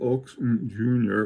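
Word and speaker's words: Ochs und Junior: It runs on, it's by this company called Oaks Jr., which not pronounced that way because it's pronounced in the German way.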